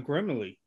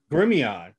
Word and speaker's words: Grimion: And William Hartman was, told us about Father John Grimley. And Grimion. Okay, uh-huh. I knew I was saying it wrong.